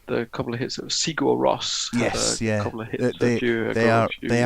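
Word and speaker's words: Sigur Rós: they are they are they're pronounced from listening to them they're pronounced sierras uh in that way so that's uh that's how i have to learn how to pronounce them um because i've been listening to them speaking about themselves anyway um allison had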